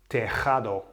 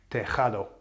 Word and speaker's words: tejado: So the emphasis is falling on the A, the second last vowel. So that's perfect. That doesn't need an accent because that's been pronounced in the way that it should.